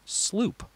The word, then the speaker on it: sloop: Dutch word slow up SLO ap but it's pronounced sloop number five this is the name for the